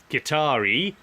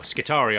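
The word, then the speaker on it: Skitarii: move on to the qatari or Scutari I depend on how you like to pronounce them so in this we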